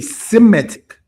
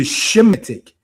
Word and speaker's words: Semitic: bring out is that when you hear people say Semitic as opposed to Shemitic, serves as what we were just speaking upon, because Greek, unless I stand corrected, does not have a sh syllable. So Sem is the Greek transliteration of the Hebrew word Shem.